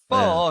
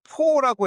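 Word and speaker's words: phở: 그니까 그 원어 발음으로 원어라고 말하긴 좀 부끄러울 수 있지만 퍼 그래서 한국어로는 퍼에 가까워요. 퍼 근데 이제 한국에서 요걸 포라고 해 가지고 식당들 보면 뭐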